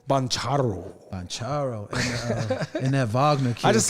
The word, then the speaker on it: Wagner: German you got to say it like a German with a little anger in your voice it's Vagner sound like AR I